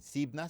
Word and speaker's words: Xypna: Xibna se escribe XYPNA.